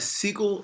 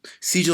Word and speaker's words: Sigil: up we have a sequel of Distinction I may have said it wrong Sigel Sigil of Distinction I need you